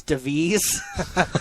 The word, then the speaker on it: Davis: plus okay yeah um Chris I'm gonna only say his name the way they want it said once because I feel ridiculous um Chris devis they'll say it like that just sounds so ridiculous apparently that's the way it's pronounced but I'm going to